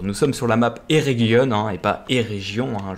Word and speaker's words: Eregion: Nous sommes sur la map Eregion, hein, et pas Eregion. Hein. Je prononce maintenant bien les mots, vu que c'est une région elfique, il faut prononcer le G en Guion.